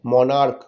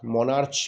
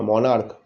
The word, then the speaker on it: monarch: তাহলে CH আছে, উচ্চারণটা হচ্ছে মনার্ক, মনার্চ কিন্তু বলছি না, মনার্ক কয়ের মতো উচ্চারণ হচ্ছে, তার সাথে শুধু এস যোগ করলাম, হয়ে গেল মনার্কস।